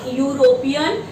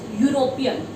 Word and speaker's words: European: It's not European, it's European. Right?